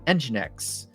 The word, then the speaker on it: Nginx: So we've got a Postgres database, and today you're gonna put an Nginx. And I said that right finally. I've been told my pronunciation of certain technologies is not great, so